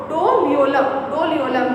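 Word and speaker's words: Doliolum: ठीक है, डोलियोलम होगा इसका सही प्रोनाउंसिएशन। तो क्या होगा?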